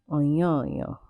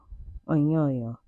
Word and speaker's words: Onyonyo: So I did some digging, I did some research, and it is pronounced Onyonyo. Onyonyo.